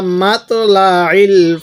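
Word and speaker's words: مطلع: শব্দটা কি হিয়া হাত্তা মাতলাল ফাজ মাতলাল আইনটা একটু চাপ দিয়ে পড়বো উচ্চারণের সময় তাহলে আইনটা সহি উচ্চারণ হবে তাহলে হাত্তা মাতলাল ফাজ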